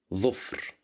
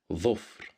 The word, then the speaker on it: ظفر: Here we have the little dha at the beginning of the word ظفر, and it's controlled by the haraka of dhamma. So that's why we pronounce it as dhu, ظفر.